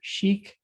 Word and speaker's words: ChIC: that uli called uh chromatin immunocleavage or chic as he pronounced it that uh that